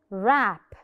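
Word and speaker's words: wrap: v r gadbadiha wreck shipwreck wreck the W is silent rap rap whole whole the whole pizza the W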